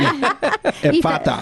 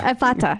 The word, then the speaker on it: Ephphatha: we talk to her is, how do you pronounce it, Kirk? Put me on the spot. Yeah, why don't you? Ephphatha. Ephphatha.